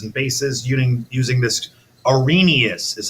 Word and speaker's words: Arrhenius: behavior of acids and bases yuning using this Arrhenius is how you say that say with me